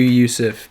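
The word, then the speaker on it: Jusuf: freak juice if nurkic we know it's pronounced yousef but we're calling you juices because you guys i still call you yusef but actually i might have to call you joseph after hearing that reason um next i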